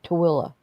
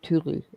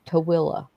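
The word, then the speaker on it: Tooele: I mean, it's called it's T O O E L L E and it's spelled it's pronounced Tilla. Yeah, that makes no sense. Instead of tuli, it's Tilla.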